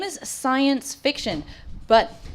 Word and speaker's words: Psyyence: The name is Science Fiction, but it's a play on words because science is spelled Psyyence, which is cool. Sci as in like psychological.